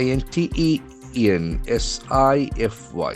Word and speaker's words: intensify: I in t e n s i f y. It's a beautiful verb having the accent on the second syllable. Intensify. Intensify.